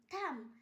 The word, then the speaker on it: thumb: থাম, THUMB থাম, এখানেও বি এর পর ভাওয়েল নেই তাই জন্য বি এর উচ্চারণ হয়নি।